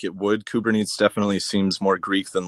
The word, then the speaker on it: Kubernetes: This is a Greek root. It was spelled with a K. So I think the original Greek to English transposing would be Kubernaein, Kubernane. But Kubernetes, that does seem like it would be accurate.